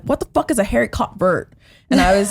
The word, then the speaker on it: haricot vert: I was like, "I've never heard of a haircut vert." Like, and that's not even how you say it. It's a Haricot vert?